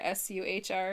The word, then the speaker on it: Suhr: S-U-H-R?